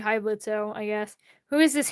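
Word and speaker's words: Blitzø: The O is silent.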